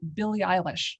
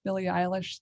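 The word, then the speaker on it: Billie Eilish: and jean shorts uh billy eilish wait is that correct billy eilish the singer is that how you pronounce it yeah i love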